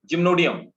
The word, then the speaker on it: Gymnodinium: gymnodium gymnodine adjustment gymnodium so these we pronunciate them gymnodium and we write it down gymnodinium and the next are